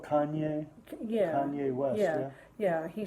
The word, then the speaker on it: Kanye: say his name wrong, Cayenne, is it Cayenne or something like that? Oh, Kanye.